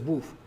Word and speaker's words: wff: described it's usually just they write it in a book as wfff and we pronounce it as woof well formed formula just